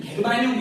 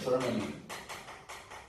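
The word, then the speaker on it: 저마늄: 그 다음에 GE, 우리는 게르마늄 이렇게 했는데 지금은 명칭이 좀 바뀌었죠. 발음이 저르마늄이라고 해요. 저르마늄.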